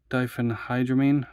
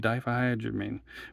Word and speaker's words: diphenhydramine: Don't ask me how to pronounce that. That's diphenhydramine. Okay, that's not too bad. Diphenhydramine.